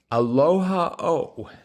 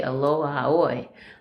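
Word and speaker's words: Aloha ʻOe: 104 cross Hawaiian song of farewell farewell was aloha o. Oh yes. Uhhuh. Is that how you put it? I did not know how you spell that. I think they say aloha oi.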